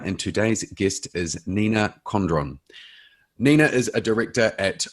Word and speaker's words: Condron: uh yeah pretty much it's uh definitely how it's uh it's spelt it's uh often pronounced condren but uh condron is is fine yeah condren oh okay